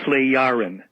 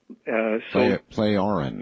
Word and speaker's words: Plejaren: Plejaren. Plejaren. Yeah, so the J is a Y or an I kind of a sound. Plejaren.